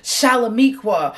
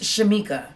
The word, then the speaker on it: Shamika: j woods and allowed what you said was shalamikwa or shaniqua or sacajawea anything that was not my name so for you who has been confused let me spell it out for you again my name is shamika and that is spelt